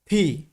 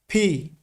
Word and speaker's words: P: আমাদেরকে এখানে বলতে হবে ফি আমি আবারো উচ্চারণ করছি ফি ফি আবার এখানে কিন্তু ফ উচ্চারণ হবে না অর্থাৎ এফ এর মত উচ্চারণ হবে না এখানে এফ এর মত